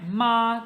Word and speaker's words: 妈: 面的存在。Horse 是马第 3 声，mother 是妈第 1 声。这里马就是给予它的发音，然后声调也很重要，因为不一样。